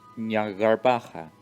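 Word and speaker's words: Jnagarbha: Don't forget, today is Nyagarbaha Day, arguably the most important day to the academia. Ñagarbaja. Así se pronuncia.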